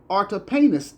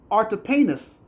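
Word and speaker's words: Artapanus: David has also found complimentary evidence in the account by Artipanis a Jewish historian.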